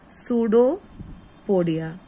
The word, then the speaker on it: pseudopodia: P is silent. It is called as pseudopodia.